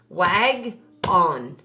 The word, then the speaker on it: wagon: to flex it and when i say flex that we want to change this vowel sound right here to the short sound and in order to do that he needs to be a closed syllable doesn't he so i'm going to move where i'm going to chunk that word let's chunk it here read the first syllable with me wag on wagon wagon so do you see